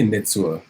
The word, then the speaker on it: Nitsua: nintu beets what's up how do you say it again it's nitsu or nitsuo uh i say nitsua that's what yeah how'd